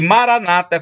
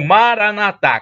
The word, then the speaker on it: Maranata: todo-poderoso ele proverá e Maranata como dizem os protestantes platônica na penúltima sílaba ou Maranata Como disse os católicos com a tônica na última sílaba significa Big senhor Jesus